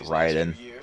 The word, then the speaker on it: Raiden: Well, you know how I mean, his name is pronounced Ryden. The other one's Raiden.